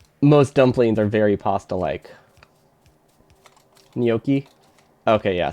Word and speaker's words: gnocchi: Gnocchi? Okay, yeah, so not at all how we pronounce it. Not with a hard ch sound.